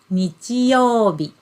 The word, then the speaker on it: 日曜日: And then we pronounce it as 日曜日. 日曜日. Yeah? So you can see the first kanji character is pronounced as nichi, and the second one is pronounced as bi.